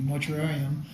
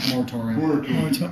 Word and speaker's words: moratorium: we're talking about the mortuarium for the marijuana facilities. And this is a while down the road, too. Wait, did I say it wrong? Mortuarium? Yeah. Moratorium.